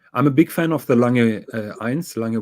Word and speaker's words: Lange 1: You pronounced it with its natural name, the Lange 1.